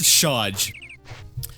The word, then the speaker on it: Shaj: Is it Saj? I think I mispronounced it so much now I don't even know what it is. Shaj. I was right, it was Shaj.